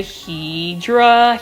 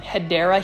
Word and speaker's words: Hedera: certain plants like the hedra helix and for those that are new to my channel I actually mispronounced the word um hedera Helix which is for